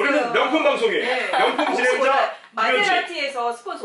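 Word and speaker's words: Maserati: 우리는 명품 방송에 명품 진행자 마세라티에서 스폰서 올 수도 있어요. 마세라티. 우리 마세라리. 좋아요. 마세라티 아니, 마세라티 아니에요. 그게 원래 마세라티라고 하더라고요, 한국에서.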